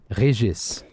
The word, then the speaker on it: Regis: is I it is a Regis or as the French uh pronounce it is a Reis how you doing moo